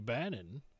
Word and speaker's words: Banon: here and talk to Bannon that rhymes with Ganon but is not the